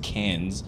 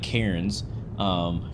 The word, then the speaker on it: Cairns: East Coast of Australia, as well as another place called, it's pronounced Cairns, but it looks like Cairns, Cairns Airport.